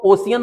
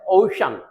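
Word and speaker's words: ocean: अब देखिएगा सी का प्रोनाउंसिएशन शा भी हो, ये किस तरीके से देखिएगा, ये ज्यादातर लोग इसको ओशियन पढ़ते हैं लेकिन इसका प्रोनाउंसिएशन है ओशन, ओशन।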